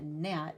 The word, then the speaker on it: gnat: just talked about that it's an at a gnat it looks like gun at but again it's a silent letter okay it is part